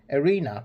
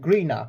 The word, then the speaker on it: Erena: Guardian Erena, which I was mistaken. I thought it was said Greena, but it said Erena.